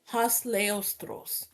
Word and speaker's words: Hossleostros: I pronounced it Hos Leost.